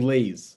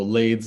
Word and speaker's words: Lades: a callback was, and I thought they were saying Lay's, like the chips. And then like then I realized like okay, like this is like a serious thing, and everyone started to pronounce like a D, and then I realized like, oh, Lades like Palisades.